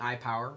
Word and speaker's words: IPWR: I'm not exactly sure how they want me to say it, but I'm going to say iPower, because it's pretty much what it is, although it's spelled IPWR.